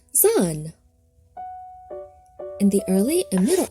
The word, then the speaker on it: Zan: Zan, pronounced Za, is the modern equivalent of Z, Zeta in Greek, and Zayin in modern Hebrew.